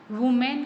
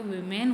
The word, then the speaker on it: women: वुमेन का जो plural form होती है वीमेन होती है, वीमेन बोलते हैं इसको, ठीक है।